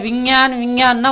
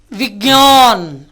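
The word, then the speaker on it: विज्ञान: ஹிந்தி புஸ்தகம் படிக்கும் பொழுதோ நீங்கள் விஞ்ஞான்னா உங்களுக்கு உச்சரிப்பு தெரியலைன்னு அர்த்தம். ஹிந்திக்காரன் இதை கேட்டானா சிரிப்பான். யார் கற்றுக் கொடுத்தா? உங்களை தப்பு சொல்ல முடியாது, உங்களை கற்றுக் கொடுத்தார் இல்லையா, அந்த வாத்தியார் மேலே குற்றமாக இருக்கும். என்னென்னு பாருங்கள். விக்ஞான், அந்த இக்கனா வரணும். விக்ஞான்.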